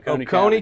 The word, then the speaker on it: Oconee: I saw that your old high school, pronounce it for everybody? Oconee County, which is 10 miles from Athens, Georgia,